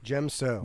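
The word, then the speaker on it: Djem So: by characters like like Yoda uh Den d-j-e-m gem so gem so gemso the heavily dominant fighting style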